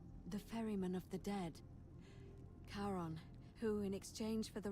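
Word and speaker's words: Charon: it's just as you described it only your pronunciation is a little off the name you heard wasn't Karen it was c h a r o thank you for spelling it out for me literally karon the Fairman of the Dead karon who in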